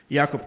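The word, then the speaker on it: Jakob: live in Barcelona and people have problems pronouncing my name it's yakob kov I pronounced that Jacob I pronounced my name as Jacob and it's difficult because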